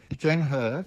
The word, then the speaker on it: Zhang He: Zhang He, it's okay. It's he, but it's pronounced her. Okay. Jane He had, I found it